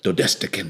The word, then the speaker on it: Dodes'ka-den: But the kid, this little keeps going the whole time, doestan, doestan, doestan, which I'm very thankful for because he taught me how to say the title.